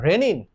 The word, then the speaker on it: renin: দুইটার প্রোনাউন্সিয়েশন একই রকম প্রায়, বাট স্পেলিং ডিফারেন্ট।